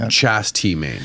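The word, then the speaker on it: Chas. T. Main: h s period t period M A oh Chast T main yeah but but it's Charles I mean that's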